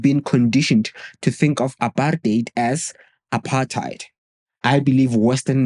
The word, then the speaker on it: apartheid: The hidden problem is that when you pronounce it as apartheite instead of aparate, it may seem insignificant, but it loses its meaning entirely. There's a hard R sound in the actual pronunciation.